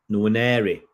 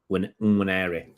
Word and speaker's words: Nwaneri: Ethan Nwaneri. Okay, I'll get this right because you don't pronounce the end.